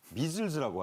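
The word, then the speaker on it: measles: 미즐즈라고 하죠. 아 발음 안 나는게 많습니다.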